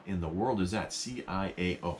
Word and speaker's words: ciao: the world is that c-i-a-o how do you pronounce that well it's pronounced ciao and it's italian so it's italian so